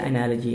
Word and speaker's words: analogy: एनालॉगी है या एनालॉजी है, देखते हैं।